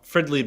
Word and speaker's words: Fridley: came out right here yep Fridley that's how you say it I was like